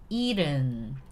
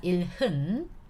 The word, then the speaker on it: 일흔: So you have to pronounce it 일은, not 일흔, 일은.